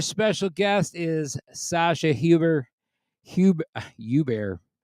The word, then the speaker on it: Hubert: Hubert. That's the right way to say it.